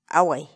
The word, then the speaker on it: away: de vídeos en la que te enseñamos a pronunciar algunas palabras en quechua así que nuestra palabra del día por hoy es agua huawei agua y la palabra quechua huawei en español